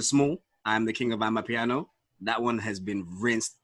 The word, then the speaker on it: Amapiano: It's Amapiano, fam.